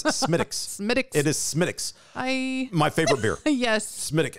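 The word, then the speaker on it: Smithwick's: had smithich's medics and it is spelled smith wicks yes rookie mistake which i did not make do not pre i'd like a smith wicks it's smitics my favorite beer yes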